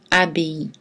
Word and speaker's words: abbaye: Et on prononce EI dans pays et abbaye.